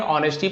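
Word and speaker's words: honesty: शक करना बोधि सत्वाची S silent रहता है नेस्टी नहीं पढ़ेंगे ऑनेस्टी पढ़ेंगे और लिखते समय लेकिन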